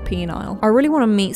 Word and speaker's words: Peniel: Gotta get my stress right there.